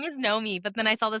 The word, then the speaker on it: Naomi: And he goes, he said, he goes, "It spelled like Naomi, but it's pronounced Nomi."